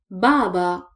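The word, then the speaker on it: باب: So, Baba, Baba. The second word is Bab, Bab, Bab. We don't stretch the sound of Ba here because there is no vowel, so it is Bab, Bab.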